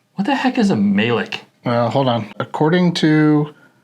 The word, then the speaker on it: Melik: Melik. You have to say it like that. Melik.